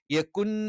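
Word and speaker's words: يكن: ലം എന്ന് തന്നെ പറയണം യകുൻ ലഹു യകുൻ യകുൻ ലഹു അപ്പൊ ഇവിടെ നൂന് വ്യക്തമായി പറയാൻ പാടില്ല എന്നാലും അവിടെ നൂൻ ഉണ്ട് എന്നുള്ള ഒരു സൂചന ലഭിക്കണം കുഫുവൻ അഹദ് ഇത്തരത്തിൽ വളരെ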